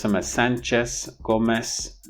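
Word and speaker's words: Sánchez: So in this sense, if you start speaking Spanish as an English speaker, you need to pronounce these last names with a sa at the end. So instead of Sanchez, Gomez, Hernandez, and Diaz,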